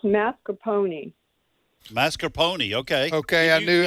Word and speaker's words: mascarpone: said it's mascarpone, like a pony.